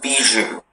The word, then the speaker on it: bijou: Hi, your word is bijou. Bijou, may I have all of the information? Bijou is the only pronunciation.